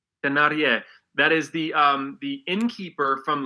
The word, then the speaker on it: Thénardier: Thénardier? As I remember it, Thénardier. Thénardier.